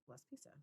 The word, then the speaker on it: Laspisa: It's Laspisa.